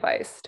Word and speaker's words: Faist: name and i said oh like heist and he's like oh